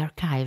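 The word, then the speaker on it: ἀρχή: Our search not only included the archive and the database, but we entirely depended on it. According to Agamben, the Greek arche, pronounced archi, is as much a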